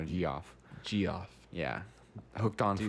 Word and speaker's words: Geoff: That's not Geoff. It's giraffe, actually. I've never known how to say that. How to pronounce it. Well, you said it right just now, Geoff.